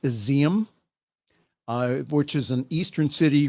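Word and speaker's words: Izium: Graves at a mass burial site in it's pronounced Aseem which is an eastern city reportedly recaptured from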